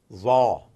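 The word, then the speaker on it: ظ: Za, not Z, za.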